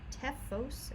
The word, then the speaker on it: Teuchos: of these have some tephos macros yes that funny name there t-e-u-c-h-o-s it is pronounced tefos as if there's an F in the middle of it that's our tools package